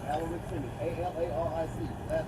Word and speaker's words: Alaric: A-L-A-R-I-C. Last name Simmons. Alric. A-L-A-R-I-C. Alaric. Yep. Alric. You pronounce it like Alric.